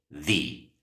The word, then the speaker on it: the: la los o las tiene dos pronunciaciones the o di todo va a depender Con qué letra inicie la siguiente palabra si Inicia con una consonante así como en estos ejemplos debes pronunciarla the The cat The Book the dog en cambio Si la segunda palabra Inicia con una vocal entonces debes pronunciarla the the Apple the elephant the onion esta palabra no